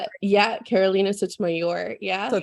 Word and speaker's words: Sotomayor: Did I say it Yeah, Carolina Sotomayor. Yeah. Or Sotomayor. if you're in the Midwest or don't roll your R's, you can call me Carolina too. Both ways.